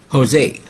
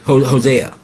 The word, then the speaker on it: Hosea: He say Jose Hosea."